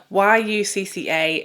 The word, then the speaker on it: Yucca: So this, to me, YUCCA, in the UK, we would pronounce this yucca and assume that we're talking about the plant, you know, a yucca plant. That's how we pronounce this here. However, Natasha Denona is pronouncing this yucca. So that's why I'm going to say yucca. I'm going to try anyway. I may well forget a couple of times and say it yucca because that's just what I'm used to.